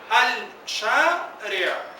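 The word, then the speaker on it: الشارع: Ahora, cuando yo leo la palabra completa con su artículo, ¿cuántas sílabas hay? Al-shari'a. Al-shari'a. ¿Cuántas sílabas hay? Tres. Y debido a que el artículo en sí mismo es una sílaba.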